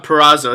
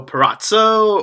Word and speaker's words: Purrazzo: So first of all, I just want to ask, Deonna Purrazzo, is that how you say it? Yes. Perfect, because I know sometimes I think people mispronounce it and they go Purrazzo, or does that bother